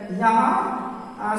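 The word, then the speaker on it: yolk: फिर वाई ओ एल के ओ के बाद है एल तो एल साइलेंट होगा, इसका सही प्रोनाउंसिएशन हो जाएगा यो।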